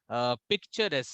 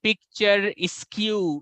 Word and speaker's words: picturesque: क्योंकि ऐसे देखने से when you see, you feel it is picture askew. No, it's not picture askew, it's picturesque.